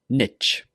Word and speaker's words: niche: Niche, niche. I like to say this with the long E sound, niche.